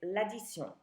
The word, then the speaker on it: l'addition: It's l'addition, spelled like addition in English.